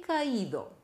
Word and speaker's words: caí: Wo ist die Betonung? Auf dem I.